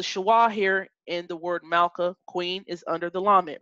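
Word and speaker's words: מלכה: always come at the end of a closed syllable so the schwa here and the word Malka Queen is under the lammott right so it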